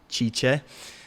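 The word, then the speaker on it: Cice: Her name is spelled C-I-C-E, Chicha.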